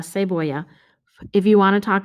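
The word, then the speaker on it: cebolla: okay let's try again onion is la se voya remember double l equals y la say boya if you want to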